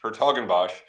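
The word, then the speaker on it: 's-Hertogenbosch: how you pronounce that no one knows how to pronounce that it's the it's the lowercase s and then a capital H her toen BOS are you planning to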